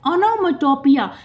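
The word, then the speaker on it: onomatopoeia: Next है ओनोमेटोपिया। क्या होते हैं? इसका स्पेलिंग ध्यान से देखिए।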